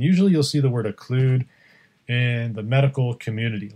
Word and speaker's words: occlude: open but when you occlude that parentheses rhymes with exclude they are unwelcome and